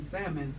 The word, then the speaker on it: salmon: The L is silent in salmon.